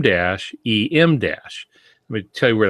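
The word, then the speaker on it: em dash: Emdash, and it's spelled E-M, but it refers to the letter M.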